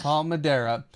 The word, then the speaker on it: Palmadera: Paul Madera think is that how we would pronounce that yeah pal Madera yes pal Madera so yeah it is a 4.8 uh 4.08